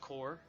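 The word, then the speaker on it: corps: the fourth Army core c o p r s is pronounced core let me speed up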